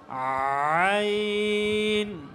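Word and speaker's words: عين: আইন আইন। ঠিক আছে? এভাবে কি গলার মধ্যখান থেকে প্রথমে আওয়াজ বের করবে, এরপরে উচ্চারণ করবে আইন আইন।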